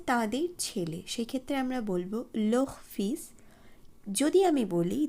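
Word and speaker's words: les: আমরা তাদের বলতে চাই সেই ক্ষেত্রে আমাদেরকে লোহ উচ্চারণ করতে হবে কিন্তু বানানে অবশ্যই একটি এক্সট্রা এস যুক্ত করতে হবে এই বিষয়টি কিন্তু আপনারা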